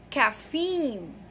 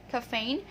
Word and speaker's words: caffeine: All right, so the correct pronunciation of that word is caffeine. Yes, it's caffeine. It has a long E sound, so it's not a caffeine, it's long E, it's caffeine.